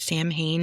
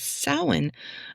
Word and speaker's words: Samhain: Um, a lot of people pronounce it Sam Hayne if you've never heard it sounded like said out loud before, but it's sin.